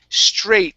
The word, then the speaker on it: straight: uh next up is straight this is a long a sound instead of a strike it's stray straight okay one more time